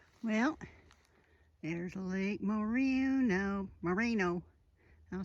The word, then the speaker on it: Moreno: Well, I'll catch you at Lake Marina. Well, there's Lake Moreno.